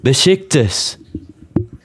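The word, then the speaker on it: Beşiktaş: The S you read the A like I and the S. Yeah, that's what I said. Oh my goodness. That's what I said. I am not saying any T.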